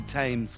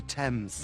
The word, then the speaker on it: Thames: see that doesn't rhyme you can't just say tames because it rhymes with aims it's the River Thames it was originally removed